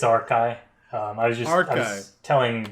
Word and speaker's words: Archi: as a community so it is pronounced r-ky I have been educated